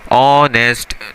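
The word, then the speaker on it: honest: दूसरी बात आपने क्या देखी, ये जो वर्ड है ऑनेस्ट, इसकी प्रोनाउंसिएशन क्या है, ऑनेस्ट, तो अ से स्टार्ट हो रही है ना इसकी प्रोनाउंसिएशन, तो उसके साथ आपने सिंपली क्या लगा दिया, एन लगा दिया।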